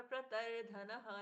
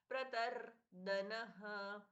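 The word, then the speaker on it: प्रतर्दनः: श लोहिदाक्ष प्रतर धनः द अल्पप्राण यहां पर प्रत धनः नहीं होगा प्रतर धनः प्रभु तस त्रिकुधाम प्रभुतस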